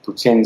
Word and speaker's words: poutine: So, you mentioned, I'm going to say it wrong, poutine?